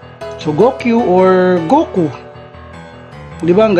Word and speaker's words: Goku: 5 is pronounced as Go, and 9 is pronounced as Q. So kapag pinagsama mo, magiging Goku. Ayan. Go and Q. So Goku or Goku.